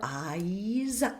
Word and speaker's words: eyes: Watch out for eyes. Eyes. It's a dip thong meaning two vowel sounds. So we hear an a, a tall, tall, dark a followed by a bright e.